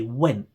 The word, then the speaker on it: went: Also, when you say went, if you notice there, I didn't pronounce the T at the end.